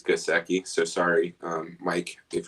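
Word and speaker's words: Gesicki: so first of all your pronunciation is right i just did look it up uh it is gaseki so sorry um mike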